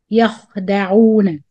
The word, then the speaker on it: يخدعون: والذين آمنوا مد بدل again the همزة before ألف وما يخدعون make sure you do the رخاوة when you pronounce خاء ساكن يخدعون إلا مد منفصل again